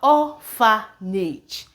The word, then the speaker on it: orphanage: We have orphanage, see here it is sounding orpha, but once it goes to this point, we have nage, and we still have the rule of the silent E here affecting this as well. Okay, so it is orphanage.